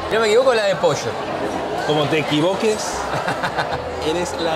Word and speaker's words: pollo: La doble L le dices cho.